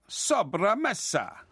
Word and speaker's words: sobremesa: Sobremesa. Sobremesa. Sobremesa. That sounds more Italian. Actually, it should be. There should be a more accent on the E. It should be sobremesa.